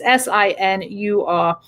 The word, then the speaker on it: Sinor: which is Jim Sinor, Sinur. and also his website, which is James-Sinor. I always pronounce this wrong. I apologize, Jim, if I am butchering your last name. It is Sinur.